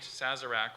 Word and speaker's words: Sazerac: nice it's in 2008 Sazerac was made the official cocktail of New Orleans is there an alternate pronunciation just the one Sazerac okay SAS a our